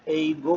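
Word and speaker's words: 英語: वहाँ के रहने वालों को ओसुतोरारिया जिन कहा जाता है, और चूंकि ऑस्ट्रेलिया में भी इंग्लिश बोली जाती है इसलिए इसको एईगो कहा जाएगा, एईगो, एईगो।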